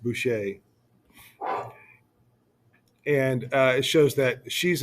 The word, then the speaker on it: Boucher: By the way, Boucher is pronounced Boucher, and it shows that she's in charge, the one by him.